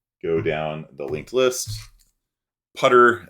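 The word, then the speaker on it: ptr: So as we go down the linked list, putter, as Arthur Dwyer pronounces it, putter is our temporary pointer.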